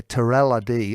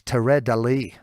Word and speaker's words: Teradélie: name wrong as well I also say Terrell ID and it's Terre de Lee so I'm sorry about that to readily I hope I'm saying